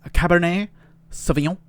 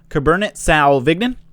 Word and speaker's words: Cabernet Sauvignon: a cab it's a cabernet sauvignon or a cabernet sauvignon that's how we say it in america 2018 because americans bastardize the proper way of pronouncing a cabernet always savagnon right a